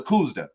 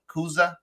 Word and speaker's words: Kudzu: a cigar aficionado rating was the Kuzda. Did I say it right? Kuzda. Kudzu.